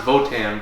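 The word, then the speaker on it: Wotan: German god named Wan it's pronoun it it's pronounced votan but spelled Wan because it's German and he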